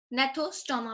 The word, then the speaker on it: Gnathostoma: Gnathostoma, basically G is silent.